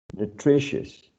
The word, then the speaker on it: nutritious: Next one, nutritious, nutritious. Next one, portentous, portentous. So this cluster of vowels, right? I, O, U, in all of these words is reduced to a schwa.